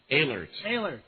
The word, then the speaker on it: Eilert: Eilert. Even though it starts with an E, it's like you pronounce it with an A.